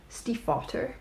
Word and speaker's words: Stiefvater: I pronounced that very German. Stiefvater.